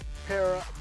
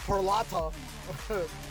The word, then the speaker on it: Peralta: Milwaukee Brewers opted to retain star pitcher Freddy Perella Perila, excuse me, uh Peralta. Sorry for mispronouncing that name.